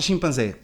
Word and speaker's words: chimpanzé: É que eu estou a pensar na palavra chimpanzé. Mas aí chimpanzé, a sílaba tónica é a última.